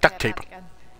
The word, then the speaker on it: duct tape: Most people say it like duct tape. Like it's duck quack quack tape. He says duct tape.